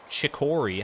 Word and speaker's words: chicory: Ergo, chicory has to fall into a different pronunciation because there's no K there.